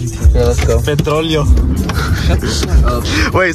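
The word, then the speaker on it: petróleo: Petroleo. That's how you say it in Spanish, Jimmy, for when it comes in handy in the future.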